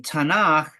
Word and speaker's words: Tanakh: the acronym of Tanakh the CH should be pronounced like a KH a sound gutal sound um and that's generally true when Hebrew uh names and words are transliterated um okay the Tanakh uh stands for Torah